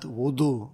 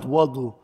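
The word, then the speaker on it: وضوء: Ahsant, wudu, alright? Why not wadu? Wadu is the thing we make wudu from.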